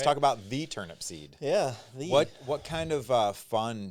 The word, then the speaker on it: Turnipseed: I mean, the most common is it's the fact that it's turnip seed, Yeah.